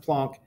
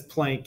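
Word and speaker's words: Planck: max plunk and yes I'm pretty sure his name is pronounced plunk everybody says plank you know like you walk the plank so he received a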